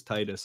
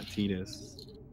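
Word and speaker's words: Tidus: know it's not like Titus where there's only one real way to say it which is Titus obviously and definitely not tiis also as you just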